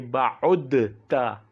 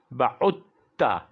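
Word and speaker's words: بَعُدْتَ: the idgham, because of, we cannot say ba'udta in Arabic. We don't say ba'udta. Instead we say ba'utta. Pronounce ba'utta and write ba'udta. So this dal here in the word ba'utta is written but not pronounced, right?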